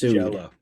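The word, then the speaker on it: Jellÿ: It's spelled jelly, but pronounced Jello.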